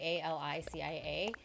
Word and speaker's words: Alicia: my name is spelled like Alicia Keys, right? A-L-I-C-I-A. But then I pronounce it like the Spanish way, which is Alicia. And most people don't say it like that.